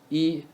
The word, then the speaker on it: 衣: Ifu, E is the English letter E in the first tone.